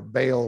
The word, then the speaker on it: Baal: teaching of balaam okay you know about ball okay uh the ball worship or baal worship as it's sometimes pronounced okay and then another